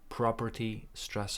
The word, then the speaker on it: property: property pie of property property stress on the first syllable property pie of property